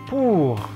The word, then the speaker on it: pour: Yang pertama ada O itu dibaca pour. Pour, jangan lupa R-nya dicadarkan, pour, artinya untuk.